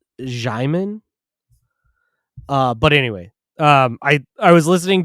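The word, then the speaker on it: Djimon: You don't pronounce the D. I think it's Jiman.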